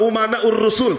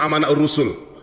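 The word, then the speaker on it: أمناء الرسل: Kemarin menyampaikan begini, Bahar bin Smith, al-ulama umana'ur rusul, tapi bacanya al-ulama amana'ur rusul. Saya katakan salah. Kenapa? Karena di sini umana, jamak taksir ya.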